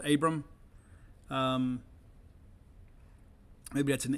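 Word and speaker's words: Aborn: defensive back jaylen abram he spells it a-b-o-r-n but it's pronounced abram um maybe that's an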